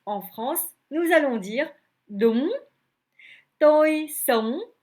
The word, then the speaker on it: đúng: Revenons à notre mot, đúng. UNG se prononce on. C'est comme si d'abord vous avez le OU, puisque le U en vietnamien se prononce OU, OU comme c'est OU, ou bien OU.